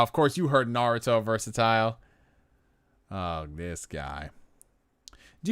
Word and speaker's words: Naruto: It's not Naruto. It's Naruto. You know, and I would say it like that. I would say, it's Naruto. I don't like how they call it Naruto, guys.